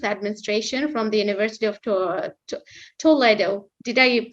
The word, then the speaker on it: Toledo: bachelor of Business Administration from the University of Toledo did I pronounce it right that's correct Toledo over to you Paul to give us a